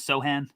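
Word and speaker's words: Sochan: here by saying that the pronunciation is sohan so yes thank you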